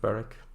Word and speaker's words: Berwick: It's pronounced Berwick.